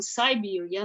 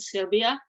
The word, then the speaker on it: Siberia: So I was born and raised in Siberia, not the Serbia.